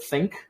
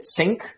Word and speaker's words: think: guess another thing is work on your pronunciation of the word think you say sync that's that's wrong but everything else is